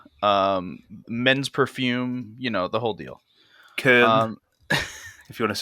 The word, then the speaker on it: Köln: Köln, if you want to say it in German. Cologne. It's Köln.